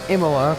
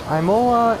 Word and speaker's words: Imola: to say than Imola cuz I heard there's so many wrong pronunciation is for bet name there's a mola and mola mola EMA la Isla look come on it's not that hard is it I was pretty not